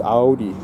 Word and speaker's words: Audi: So, well, we also pronounced Audi different than some of you guys were saying. Audi. It's Audi. So pronounce it once again in German pronunciation.